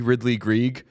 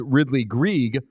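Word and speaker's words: Ridly Greig: I know it to be Ridly Grieg because I'm an effusive pronunciation guide checker. And both the NHL pronunciation guide, which is always bang on, and Hockey Reference, which I think uses the pronunciation guide, has Ridly Grieg.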